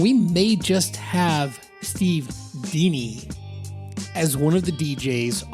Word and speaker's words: Dini: Now, I need to correct something real quick, and that is that Steve doesn't pronounce his last name Dini like I do, D-I-N-I, Dini. He pronounces it Dini.